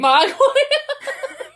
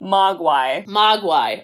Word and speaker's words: Mogwai: Mogwai. But yes. Almost. Okay, what I hear and what I spell never match up. Wait, how do you say it again? Mogwai.